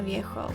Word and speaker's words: Viejo: Casco Viejo. Casco Viejo. Viejo. Yeah. You're saying, you're pronouncing with the Portuguese.